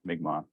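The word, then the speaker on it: Mi'kmaw: of those words yeah yeah for sure people pronounced it incorrectly so yeah migma butt spell Mi apostrophe k m a w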